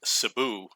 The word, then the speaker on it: Cebu: It's pronounced Cebu. That's how the locals pronounce it.